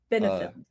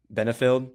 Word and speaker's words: Benefield: How do you pronounce her last name? Benefit. Benefield. Yeah. Yeah.